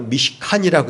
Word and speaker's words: 미시칸: 이것은 히브리 말로 미시칸이라고 읽는데 어떤 거냐면 거하다라고 하는 단어 샤칸이라는 곳에서 왔어요.